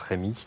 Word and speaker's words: Remi: Alors on dit Remi. Oui, en Champagne, c'est bien Remi pour la prononciation, effectivement. Même si, effectivement, bien des Français et d'autres prononcent Rémi.